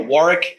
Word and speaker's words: Warwick: And we just, for some reason, decide to drop certain vowels and syllables. Like, you know, Warwick, it's like, there's 2 W's in that. I don't know where you got Warwick from, but, you know, and